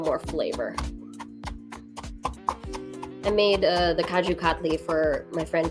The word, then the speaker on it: Kaju Katli: So this is a cashew candy called Kaju Katli, and it's spelled with a K.